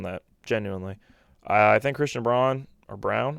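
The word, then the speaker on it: Braun: genuinely I think Christian Brown or brown I think it's brown maybe even though it's spelled like brown I think Christian Brown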